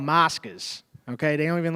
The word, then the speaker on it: Moscas: Moscas. Moscas. Moscas. Check it out, bro. Can you spell it to me?